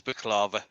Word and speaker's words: baklava: Yes, Mark, it is baklava. Yeah. But to convince somebody to mispronounce it intentionally and convince them that it's